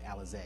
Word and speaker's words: Alizé: I think you pronounce her name Alizé, but I'm going to say Elise.